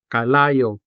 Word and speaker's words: kalayo: Kalayo, meaning fire. Let's syllabicate this word. Ka, la, yo. Kalayo.